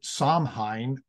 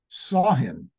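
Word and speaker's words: Samhain: ancient Celtic Festival and it looks like you should pronounce it somine but apparently it's pronounced saw him when people would light bonfires and they would wear costumes to ward off ghosts sain was a commemoration of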